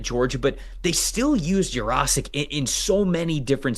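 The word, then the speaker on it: Yurosek: just going to be a oh it's it's osic by the way I that was muscle memory from me I looked up the pronunciation I was pron pronouncing it wrong for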